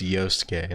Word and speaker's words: Yosuke: Oh, it's Yosuke, that's how you pronounce it.